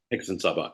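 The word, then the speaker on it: Hexensabbat: I hope I'm pronouncing it correctly. Hexen Sabbat. Hexen Sabbat, yeah, which just means witch's Sabbath in German.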